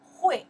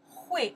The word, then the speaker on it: 会: In Chinese, we pronounce that the character, it's a, your turn. Yeah, you know that one, right? 会, right. 会, one more time.